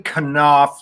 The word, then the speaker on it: Kanouff: The pronunciation of your last name is up for debate. So how would you prefer it be pronounced? Because one of them is your German ancestry and the other one is... I would say Kanouff.